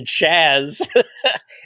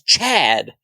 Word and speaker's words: Chad: backstage with Otis and Chaz it's Chad you're saying it wrong shush please so Chad